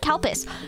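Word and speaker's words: Calpis: l p i s we call it CPUs as a joke because it literally sounds the same in Japanese it's kupu it's cow piss but it sounds like cow piss so it's like well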